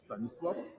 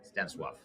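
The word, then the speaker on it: Stanisław: Because I mispronounce it every time. It's Stanislaw. Stanislaw.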